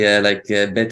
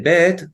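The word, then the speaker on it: ב: Before Gimel, you can see that you can say bet also like a B and also like a V.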